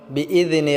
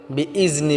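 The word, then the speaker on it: بِإِذْنِ: এক আলিফ টেনে পড়বো বিজনে রব্বিহিম বিজনে বলতে আমরা জালটাকে পাতলা করতে হবে বিইজনি বললে হবে না বিইজনি রব্বিহিম হিম টা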